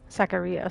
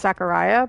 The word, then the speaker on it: Zacharia: can call me Zach Zacharia sorry I'm so used to it being pronounced Zachariah but that's okay judging